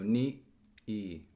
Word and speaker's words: ni e: It's just showing ni space e, which is pronounced actually like silence for the space of one phoneme. So ni e. You have to try not to put a glottal stop in there. It's just silence.